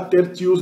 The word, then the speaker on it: tertius: A pronúncia do latim clássico provavelmente era tertius mesmo, T.